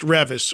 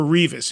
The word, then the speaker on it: Revis: And it turns out it was a band, I believe it's pronounced Revis or Revis. It's R-E-V-I-S.